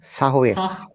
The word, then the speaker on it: Samhain: In modern times, Samhain, a Gaelic word pronounced Sahwe.